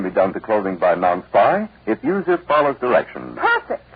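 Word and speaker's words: Non-Spi: Yes, the Better Fabrics Testing Bureau reports that their analysis shows no damage can be done to clothing by non-spy if user follows directions.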